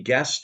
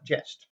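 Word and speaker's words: Gest: And then because I won the tournament, Harold awarded me Guest of Robin Hood, Yeah. which we just played Jest. Jest. Yeah. I pronounced it wrong.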